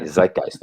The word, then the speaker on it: zeitgeist: once and for all give me the correct pronunciation of the word zeitgeist zeke geist side case yeah yeah perfect yeah okay zeitgeist okay great thank you i guess i wanted